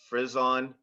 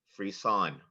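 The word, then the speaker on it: frisson: ready yeah hey hello your word has two correct pronunciations frison frean can I have a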